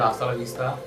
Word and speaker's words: hasta: हाताला विस्ता च एच च is kind of silent you can call so it's okay it's called आस्ता एंड it's Spanish word meaning bye या ऑफ